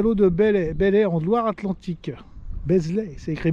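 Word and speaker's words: Beslé: Donc mise à l'eau de Belley en Loire-Atlantique. Beslay, c'est écrit Beslay, mais bon, Belley, ça se prononce Belley.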